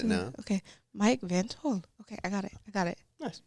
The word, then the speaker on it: Van't Hul: I always want to put the T after the hole. Yeah, and that's so incorrect. It's before. It's before.